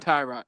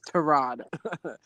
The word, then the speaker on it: Tyrod: Actually, it's Terod. Let me pronounce it right. Baker had to correct all of us. But anyway. Oh, did it? Yeah. Terod. Actually, not Tyrod. It's Terod. But anyway, just like